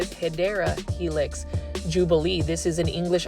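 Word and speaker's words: Hedera helix: that there were several Heedra helix or the correct way to say it is Hideera Helix Jubilee.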